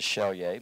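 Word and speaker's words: Selye: was a man sergei in hungary in the pronunciation of chelye but celie was a researcher who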